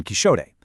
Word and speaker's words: Quixote: It's actually the exact same linguistic quirk that explains why Don Quixote was historically pronounced Don Quixote.